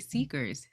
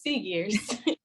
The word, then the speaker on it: Seagears: We're talking to Seegers. Seagears? How do you say See- it? Yeah, Seagears.